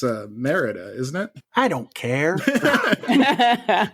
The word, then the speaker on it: Merida: Pat, I believe it's Merida. Yeah. If it was Meridia, then I would be thinking of a different movie, and I might be totally wrong.